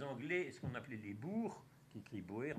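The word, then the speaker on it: Boers: ce qu'on appelait les bourgs kit libraires mais ça se prononce bourg c'est à dire les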